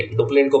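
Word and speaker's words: Dupleix: डुप्ले इनको pronounce करते हैं।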